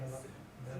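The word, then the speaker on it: מֶלֶךְ: That's, Malach. nope, that's it. That's Melech. Melech. Melech. But you gotta put the accent on the first one, it's Melech, yeah.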